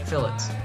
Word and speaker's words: fillets: Yeah, that's how they pronounce fillets here, fillets.